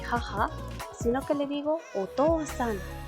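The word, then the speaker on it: お父さん: san después, entonces ya el kanji no se lee chichi, no decimos ochichi-san, no. Ya el kanji cambia y se pronuncia to en el caso de papá. Entonces otou-san, okaa-san.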